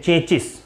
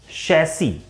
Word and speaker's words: chassis: कि बोला जाता है, लोग बोलते हैं चेचिस, while it's correct pronunciation is, चेचिस नहीं है, शैसी। It's correct pronunciation is शैसी।